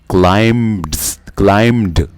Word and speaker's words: climbed: इस तरह है कि ये बी साइलेंट है। अब वो लोग इसको, मोस्ट ऑफ स्टूडेंट्स इसको क्लाइम्ड पढ़ते हैं, लेकिन इसको क्लाइम ईडी यानी क्लाइम्ड, यानी बीच में बी की आवाज़ हम नहीं निकालते, क्लाइम्ड नहीं करते, बल्कि इसको क्लाइम्ड, क्योंकि बी यहाँ पे साइलेंट है।